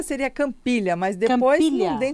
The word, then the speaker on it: Campiglia: A pronúncia seria Campiglia, mas depois Campiglia. não tem como ninguém seguir, né? Porque Uhum. escreve diferente do que fala, né? Então, italiano. é Campiglia, italiano.